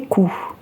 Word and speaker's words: coup: Elle espère les réussir du premier coup. Les réussir. Le pronom les remplace les crêpes. Coup s'écrit avec un P final qui est totalement muet.